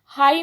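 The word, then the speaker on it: high: हाई में बच्चों GH जो है ये साइलेंट है तो इस पर सर्कल करेंगे।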